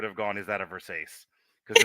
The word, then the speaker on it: Versace: Is it a Versace? It's pronounced Versace.